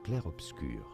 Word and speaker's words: Clair Obscur: How do you say it in French? It is said as Clare obscure. Clare obscure.